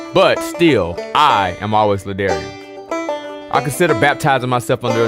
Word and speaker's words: La'Darrion: good with the daring it rhymes with barbarian librarian grummarian i'm good with any